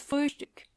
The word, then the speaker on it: Frühstück: And try to pronounce the O umlaut. Das Frühstück.